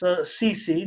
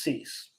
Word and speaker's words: CC: CC, no relation to Cease, and that's CC, not pronounced Cease.